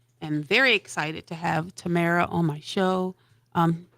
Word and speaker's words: Tamara: call me Tam okay cuz just pronounce Tamara Tam I should have known that from the last time like a tambourine Tamara I'm GNA get it